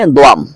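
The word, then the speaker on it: دوم: উচ্চারণ দাওয়াম বললে ভুল হয়ে যাবে। আমরা অনেকে বলে ফেলি। এখানে দাও না। উচ্চারণ এরকম হে দোয়াম।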